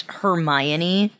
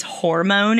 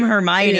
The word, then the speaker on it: Hermione: Stone and I didn't I didn't know how to pronounce Hermione. What kind of name is that? Sorry if your name's Hermione. I'm sure it's a great name. So I would read it as hormone in my head.